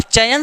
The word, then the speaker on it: चयन: जैसे चयन शब्द का उच्चारण करिए तो च य न, च य न, च य न, देखिए अय आ रहा है कि नहीं, च य, न को भूल जाइए, क्या आ रहा है, अय आ रहा है कि